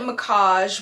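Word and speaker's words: Mackage: So she pronounced it Macage, which sounds pretty like expensive, which makes sense because they are really expensive coats.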